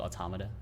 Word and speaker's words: Automata: automotive works auto mata it is called automata at least in english that's how you pronounce automata which is something that i